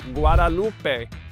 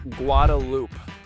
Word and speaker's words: Guadalupe: Anyone else who does not live in Austin or is not from here would pronounce it Guadalupe. However, we call it Guadaloop.